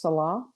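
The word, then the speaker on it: Selah: It's sometimes pronounced salah in the modern.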